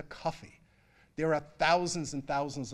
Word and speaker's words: Kofi: that's born on Friday your name is Kofi Kofi phonetically or we anglicize that into coffee there are thousands and